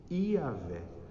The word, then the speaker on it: Iavé: pactual de deus é um tetragrama que se escreve assim y h w h ir ver alguma coisa assim se pronuncia iavé o deus patroa e